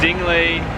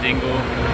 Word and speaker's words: Dingle: head to this place it's dingly don't pronounce it Dingle you look like an idiot I did this is